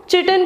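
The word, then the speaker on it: chitin: fungi की जो cell wall होती है वो चिटन की बनी होती है, किटन आप जो प्रोनाउंस करना चाहो, चिटन, किटन, ठीक है, तो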